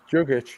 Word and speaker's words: Jokic: Jokic, you were right.